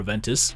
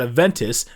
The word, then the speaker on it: Aventus: If you've been around these fragrance streets, you would know that the fragrance inside this atomizer rhymes with a football club in Turin. But yeah, there ain't nothing wrong with Juventus and or Aventus.